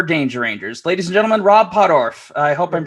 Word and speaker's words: Rob Pottorf: the composer for danger rangers ladies and gentlemen rob poddorf i hope i'm pronouncing that right you're that's you get bonus